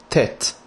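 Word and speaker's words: טית: The letter Tet, pronounced just like the letter T.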